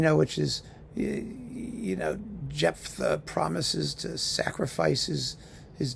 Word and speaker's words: Jephtha: How do you pronounce this? Jephtha. Yes, Jephtha.